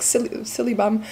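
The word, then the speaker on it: Silybum: I like saying is it's like silly bum syllable marianum extract which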